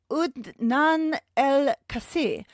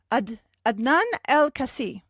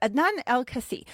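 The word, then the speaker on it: Adnan Al-Kaissie: professional wrestling association and were managed there by Nan El Casi. Oh no, Adnan Elcasi. I wrote that out phonetically to try and help me and then I ended up just it up.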